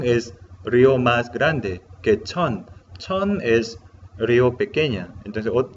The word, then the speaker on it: 천: Pronunciamos chon.